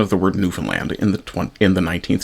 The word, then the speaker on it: Newfoundland: Hesen, a mill worker, pronouncing the word with the stress on the second syllable, Newf Foundland, rather than the first, Newfoundland.